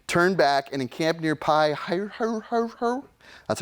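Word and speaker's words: Pi-hahiroth: on this journey turn back and encamp near pie hire her that's how you pronounce that's hebrew between mgdol and the sea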